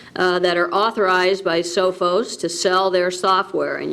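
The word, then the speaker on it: Sophos: the renewal of the how's what how's that pronounced sofos sofos SOS sofos okay the sofos antivirus software for micro integration of South Bend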